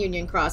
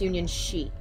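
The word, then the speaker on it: Union χ: Union and Union Cross, and it's actually pronounced Union Sheet.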